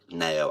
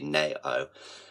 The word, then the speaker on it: Nao: really really really love nail as an artist um I'm not sure if you would have heard of her you spell it nao literally narrow and this album for